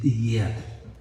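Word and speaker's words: יד: La raíz de yedar es yad. Estoy pronunciando como se pronuncia en hebreo.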